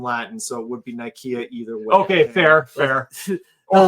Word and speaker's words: Nicaea: like Council of Nicaea, or they call it Nicaea. Is how I hear it pronounced for the lore, but it's actually Nicaea, which is the famous where they put the Bible together.